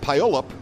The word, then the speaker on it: Puyallup: And from, I believe it's pronounced Puyallup, Washington, the 253, that is Will Taylor.